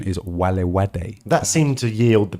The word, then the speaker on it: Valivade: We were saying Valivade because it's spelt with V's. Two V's. V's in English. Yeah. But I think the correct pronunciation is Valivade.